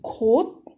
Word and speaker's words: 곳: When you're saying 것, you are closing your throat and opening your mouth. 것. But when you're saying 곳, you are slightly, very slightly opening your throat while closing your mouth. So both has different pronunciations.